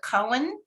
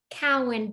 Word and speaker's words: Cowan: next candidate is cohen if i'm pronouncing that correctly cowan thank you collin terrific